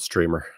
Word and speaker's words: GStreamer: I think the G is silent in GStreamer. It's just called Streamer.